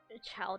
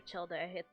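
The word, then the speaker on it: Childe: Child or childa, it's child. Believe it or not, it's actually pronounced child.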